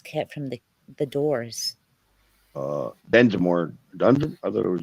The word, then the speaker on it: Densmore: My drum kit is the replica of John Dunsmore's kit from the Doors. Densmore. Dunsmore? I thought it was Densmore. However you Americans pronounce it.